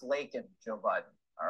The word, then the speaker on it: Laken: And it's pronounced Laken, Joe Biden.